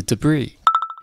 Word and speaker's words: debris: 还出现了一个我们刚刚学过的词 debris.